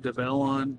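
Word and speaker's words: Develon: used to be called ducon um it's actually pronounced Dellon they just recently changed their name this year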